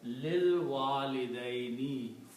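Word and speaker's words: لِلْوَالِدَيْنِ: So when you read this together, you do not pronounce this alif, it becomes lil walidaini, for the parents.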